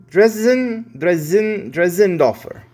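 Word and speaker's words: Dressendorfer: This looks like a German name, so the double S should be a Z. And so let's see if we can get this. Kirk Dresendorfer. Dresendorfer.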